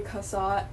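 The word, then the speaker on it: Cassatt: kasat I love Mary kasat Mary yeah Mary Mary kasat that's how you say her name um I really love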